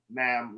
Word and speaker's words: ma'am: now right oh and it's pronounced ma'am rhymes with ham i don't know how